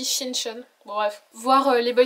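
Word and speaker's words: 신촌: Ça s'écrit Sinchon mais je crois que ça se dit Shinchon.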